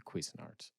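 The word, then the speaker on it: Cuisinart: guess I'll take the quis art also why is that how it's colloquially pronounced shouldn't it be Cuisine Art I have I have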